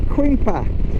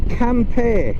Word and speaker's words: Quimper: campaign it's called it's spelled it well English it's spelled q u i m p r so we would say cream pact and that's what I used to call it